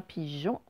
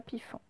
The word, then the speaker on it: pigeon: Et enfin, pigeon, ce n'est pas pifon.